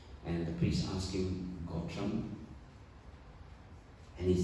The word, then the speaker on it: Gotra: And you must pronounce it Gotra, right?